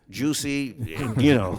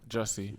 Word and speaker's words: Jussie: Juicy, I keep saying his name wrong the whole time. I don't even remember his name. Jussie Jussie.